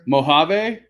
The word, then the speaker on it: Mojave: Mojave, like the desert.